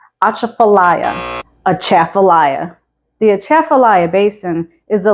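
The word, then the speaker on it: Atchafalaya: a challenge it's spelled like that and it's pronounced aaala aaaaya the aaala Basin is the largest swamp in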